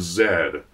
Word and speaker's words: Z: And The Lost City of Zed is a great example of that. Hey, by the way, they pronounce Z as Zed in the film. That's why I'm saying The Lost City of Zed as opposed to The Lost City of Z.